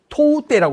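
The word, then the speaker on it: 唐手: 그다음에 이제 사구가와 강가 시대에 드디어 이 맨손 무술 그리고 이름을 이제 토우떼라고 쓰기 시작합니다. 토우떼는 당수라는 말을 오키나와식으로 읽는 발음이에요.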